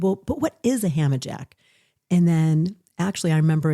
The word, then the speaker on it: Hammajack: I am noticing you're wearing a HammerJack t-shirt today.